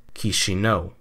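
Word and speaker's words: Chișinău: It's 3 syllables. Ki as in kiosk, Xi as in Xi Jinping, and No as in no. And the emphasis goes on the final syllable, so you put them together and you get Kishino.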